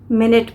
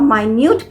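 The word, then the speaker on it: minute: फिर होमोग्राफ क्या है same spelling but different pronunciation and different meaning फिर एम आई एन यू टी ई इसे हम मिनट भी प्रोनाउंस करते हैं और माइन्यूट भी प्रोनाउंस करते हैं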